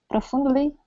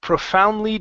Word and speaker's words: profoundly: pronounced profound profoundly profoundly give me a good PR instead of pro pro profoundly deaf profound profoundly deaf okay almost so here you're saying Pro and you're rolling your R Pro so instead of